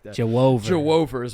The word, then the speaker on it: Juwan: I probably could try that again and not pronounce it like it's Jew over. Why did I say it like that? Jew over. Jew over is how I think you're supposed to say that.